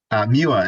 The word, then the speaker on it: Moya: Did I pronounce that right? I've always said Moya. Mua is correct, but fine, so that's All right, great.